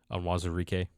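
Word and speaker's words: Onwuzurike: I can't say his name. Onwazurike. There you go. That sounds right.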